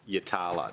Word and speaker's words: Yatala: And it's pronounced Yatala.